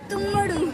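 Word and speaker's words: తమ్ముడు: So in Telugu, Tammudu will say Tummudu.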